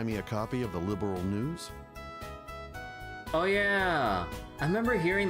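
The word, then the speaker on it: Liberl: Yeah, they they pronounce it like liberal instead of just liberal, you know, without the a between the R and the L.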